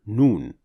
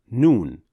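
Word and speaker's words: نون: Noon is another letter pronounced from the edge of the tongue. The edge of the tongue is that highlighted area. So now, how is Noon pronounced? In order to pronounce Noon properly, you need to perform two actions. One action using your tongue, and the other action through your nasal cavity.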